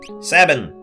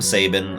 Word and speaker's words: Sabin: for his own freedom sabbin I've I've heard people call him Sabin I I say Sabin that's just how I pronounce it ah yes Sabin I'm